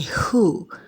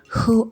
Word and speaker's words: who: to also know something in some words we letter w comes before the letter h though letter w is not pronounced thereby making the h to be pronounced first examples are who have you seen that word the w there is silence so you first say the age that's why you say who who are you you